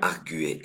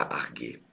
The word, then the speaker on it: arguer: On prononce bien arguer et pas arguer.